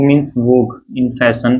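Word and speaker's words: vogue: and E also so we do not pronounce this U and E also there yeah we say only Lang right Lang means language this does mean language and this w means vog in fashion right so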